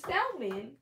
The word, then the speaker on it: salmon: sure it's out man you don't pronounce the l for show because it's like a different language and they don't do